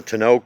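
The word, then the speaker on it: tonneau: Uh the car has also a Tano cover. That's how it's pronounced. Tono cover and also a convertible top cover that goes in there if you choose to use that.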